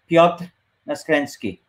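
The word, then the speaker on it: Piotr Naskręcki: a tough one to pronounce so the actual pronunciation is Fiat s Krinsky so I go by Peter and Peter's fine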